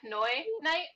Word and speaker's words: Pinoyknight: Pinoyknight?